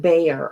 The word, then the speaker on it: Bexar: absolutely um oh they the Bexar is pronounced B okay okay um I